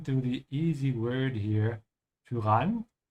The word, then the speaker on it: Tyrann: Also pay attention to the easy word here, Tyrann, because it's pronounced a bit different than English, so you have to pronounce it with a bit of an Ü, ja?